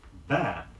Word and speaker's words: bade: Be sure you get the correct vowel sound in bad, B-A-D-E, the past tense of bid.